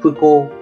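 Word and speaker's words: 不幸: Thì cách đọc của nó là phư cô, cách đọc của nó là phư cô.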